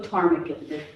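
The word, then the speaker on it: ptarmigan: This is this is the uh willow tarmaggan. The um P it's not pronounced in winter plumage.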